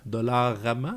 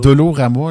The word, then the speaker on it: Dollarama: Personne n'est capable de prononcer le nom, ni de l'écrire comme du monde. Dollarama? C'est toujours Dolo. Dolo. Dolorama, le monde.